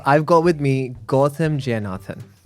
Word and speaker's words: Jayenathan: So today on the show, I've got with me Gotham Jayenathan, right?